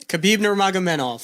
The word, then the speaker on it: Khabib Nurmagomedov: Khabib Nurmagomedov.